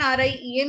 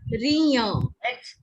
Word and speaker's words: rien: Now it's written R-I-E-N only in the book. Then, Yes, ma'am. Rion. Write it in Hindi. Ma'am, it's Rian or Rian? Beta, it's not Rien, it's Rion.